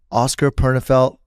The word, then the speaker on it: Oskar Pernefeldt: Oskar Pernefeldt, correct? Yeah. Did I say it right? Yeah. Oskar Pernefeldt, thank you for coming to the Ourselves podcast.